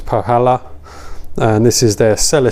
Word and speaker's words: Põhjala: to pronounce this right i think it's pohala and this is their